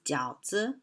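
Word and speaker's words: 饺子: represent reunion and goodwill the pronunciation of dumplings in chinese is jiaozi similar to the word jiaozi which means the new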